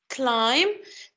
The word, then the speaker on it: climb: And we have climb, the silent letter here is B.